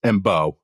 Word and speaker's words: Mbow: And it's Mbow, like bow and arrow.